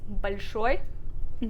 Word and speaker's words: большой: like even though it's written as большой, the o is reduced to an a sound with this rule. So it's большой. Try saying it.